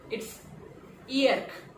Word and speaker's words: hier: As a matter of fact, कि French में हम H को pronounce नहीं करते. So, this is hier. Hier. Right? So, what was yesterday? It's hier.